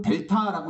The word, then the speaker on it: 델타: 읽는 방법은 델타라고 읽으시면 돼요.